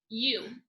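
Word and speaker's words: ewe: what all right so it is spelled like this okay it is pronounced you you you lamb you you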